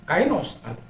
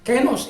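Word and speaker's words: καινός: Tetapi kalau kenos atau kainos, kenos itu dalam pronunciation yang benar, maka dia akan mengadakan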